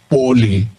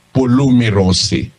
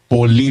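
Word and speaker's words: πολύ: marami ang ibig sabihin Ito po ang pronunciation nito Poly Pero kung Babasahin mo dito sa given pronunciation sa dictionary ng Greek kung hindi mo alam na basahin sa griego Babasahin mo ito polos Pero ito pangkaraniwan binabasa nila ito po Poly merose ang ibig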